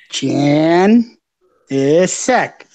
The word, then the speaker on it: Janicek: It's just say Janicek. Okay, but that's not how it's spelled. Trunk. This is how you pronounce difficult names. You break it up. Jan is sec.